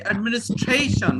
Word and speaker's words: administration: In India, we don't say administration. What do we say? Administration. Yes or no? Think. This is the English we speak. Administration. It's not administration. We say administration.